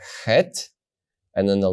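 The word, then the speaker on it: ח: know that it's the letter hey the soft ha and if you don't see the Gap you know it's the letter head slightly harder ha now we go forward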